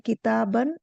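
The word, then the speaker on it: كتابًا: अलिफ भी जुड़ा है, किताबन। तो किताबन में अलिफ जुड़ा है, लेकिन बा करके नहीं पढ़ेंगे, किताबान इस तरह नहीं बोलेंगे। इसको सिंपल बोलेंगे किताबन, मतलब उसको प्रोनाउंस नहीं करेंगे, विच इज नॉट प्रोनाउंस्ड, ये लिखा है।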